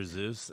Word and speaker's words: Seuss: Company just is not start saying the name wrong. It's Dr. Seuss, and you're not talking about the blue name.